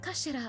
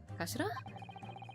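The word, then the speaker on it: 頭: end of the hilt it's written as head in Japanese but it's pronounced as Kashira I believe Kashira so Mr so's word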